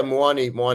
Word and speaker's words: Muani: And how's Moani pronounced? Have we got that right? Yeah, Moani is correct.